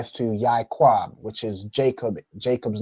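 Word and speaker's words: יעקב: In this instance, with Yaquab, the Ya and the I are actually connected. Okay, so it's like it's pronounced Yaquab, right? So the Ya and the I make the Yai, and the Kwa and Ba make Quab.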